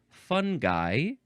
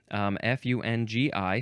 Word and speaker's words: fungi: having the characteristics of fungi, which I think you can pronounce a few different ways. F-U-N-G-I. Some people like to say fungi. Some people like to say fungi. Maybe even fungi or fungi.